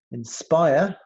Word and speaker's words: inspire: that's the stress syllable inspire inspire the stressor ball is spire spy inspire so if the middle syllable they're three syllables their spy SPI to underline SPI inspiration the